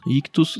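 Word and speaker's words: Ichthys: Ictus se escreve i ch th.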